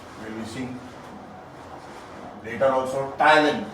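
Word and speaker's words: ptyalin: and saliva contains Thailand Thailand you see also Thailand P is silent we don't from the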